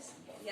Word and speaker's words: संज्ञा: इसको ऐसे भी हम लिखते हैं, और इसका उच्चारण हमारा क्या होता है? जय, और यही हमारा बनता है संज्ञा।